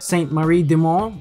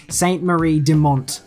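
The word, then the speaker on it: Sainte-Marie-du-Mont: There is even a French map, Saint-Marie-de-Mont, which basically, if you don't say it like that, then you are wrong.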